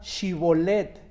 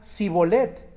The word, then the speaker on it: Shibolet: Si él respondía: no, entonces le decían: di pues la palabra Shibolet. Pero él decía Sibolet, porque no podía pronunciarla correctamente.